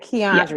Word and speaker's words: Quiandria: Quiandria. Quiandria.